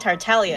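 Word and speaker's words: Tartaglia: tell from the title the G and tartalia is silent that we got Griffin Burns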